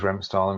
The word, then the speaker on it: Remstal: Remstal, I obviously mispronounced You go with Remstal and explain what it means, please.